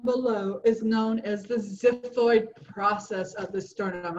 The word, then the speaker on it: xiphoid: And the little pointy part down below is known as the xiphoid process of the sternum. It has a Z sound, but it's spelled with an XI.